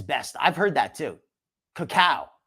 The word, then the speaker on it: cacao: Cacao, not cocoa. I mess up my pronunciation sometimes. Cacao. Like kapow.